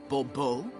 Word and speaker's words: Bobo: Monsieur de Bobo fine this falls on the last syllable Bobo mm-hmm see now I'd